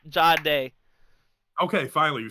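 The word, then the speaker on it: Jahdae: butcher his name every time I try and Gade? say it. Huh? Gade? Sure. The cornerback. That's how else do you pronounce it?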